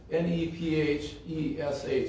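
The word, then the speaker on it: נֶפֶשׁ: But in the Hebrew, the soul is N-E-P-H-E-S-H.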